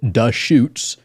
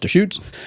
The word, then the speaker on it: Deschutes: interesting conversation at times too uh it is pronounced dutes it's spelled D S C hu Tes or Theus but anyways pronounced dutes in 1988 Gary fish established a small Brew